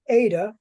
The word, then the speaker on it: eta: the letter Z Zeta the next one is the Ada and this is a long e sound Ada and it looks